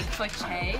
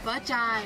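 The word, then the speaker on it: phở chay: I usually get like pho che. Is that how you say it? It's like pho chai. Pho chai. Oh, that's how you say it. I've been saying pho che.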